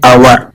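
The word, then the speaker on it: hour: आवर में H silent होता है, इसका उच्चारण होता है आवर, यानी वावल साउंड से शुरू, और वावल साउंड के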